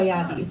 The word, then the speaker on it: Jadi: So I think you would pronounce it Jadi or Jadi. I don't know in Jedi. I guess, but I pronounce it Yadi. It's Yadi.